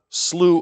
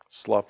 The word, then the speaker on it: Slough: Your neighbor pliable, who came home beddled with the dirt of the slew of despond, slough, slooh, or sloth of despawn, whichever way you want to pronounce it.